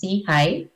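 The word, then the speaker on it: SIHI: innovation in health initiative or we pronounce it as SE High uh as for forward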